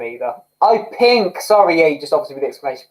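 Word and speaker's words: P!nk: is kelly clarkson or panic oh i've read that as panic at the disco but it's p exclamation point no both amazing vocalists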